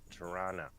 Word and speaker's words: Toronto: just to prepare you, locally it's pronounced Tirana.